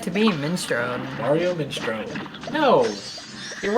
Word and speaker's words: minestrone: But Biss swears is just Mario Minestrone. There's no E. Yeah, that is how it pronounces it, right? Like, No, it says Mario Minestrone. I don't hear the E part.